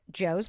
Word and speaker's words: Jo: We have another How to pronounce my name. It's Joe J.